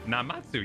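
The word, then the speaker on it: Namazu: He's a Namatsu fisherman, whatever that means. A regular here. Maybe we'll find him if we look around. Did I pronounce Namatsu? Is that right? Namatsu.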